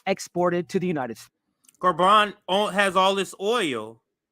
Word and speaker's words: Gabon: cool that's happening in garban and that's g-a-b-o-n it's it's pronounced French in a French way so garban is the name of